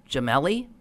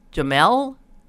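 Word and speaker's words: Jemele: woman pronounce her name Gemelli Jamel you don't pronounce last e Jamel thank you I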